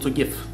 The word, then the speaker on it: GIF: E então apenas exportei elas em gif. Foi tudo o que eu fiz. Ok, aqui está uma interessante pergunta: as pessoas são... Na verdade é se pronuncia "jif", não sei se você sabia disso.